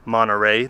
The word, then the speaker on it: Monterey: go down to Monterey, or as they say, Monterey. They don't pronounce the T.